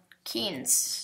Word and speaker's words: Keynes: Keynes, the kind of boots. Keynes. Keynes, like shoes or something. Yeah, but it's spelled differently.